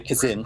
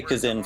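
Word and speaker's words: Kzin: Anyway, the Zin the Kazin. I'll just say Kazin for reference from me, because that's how it's spelt on the thing.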